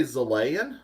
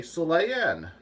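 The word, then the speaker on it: Xelayan: I want to say Zalayan and call it Zaleya. But they say Saleya. They say Saleyan. They say it like it's spelled with an S.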